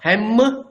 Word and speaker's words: hem: For example, hem, H-E-M, not hem, it is hem.